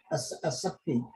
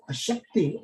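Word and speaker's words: आसक्ति: Now, Sanskrit, you have to remember how you pronounce asakti. No sha, sa. Asakti means the attachment. But when you say ashakti, ashakti means weakness. Shakti means energy. When you have no energy, that's called ashakti.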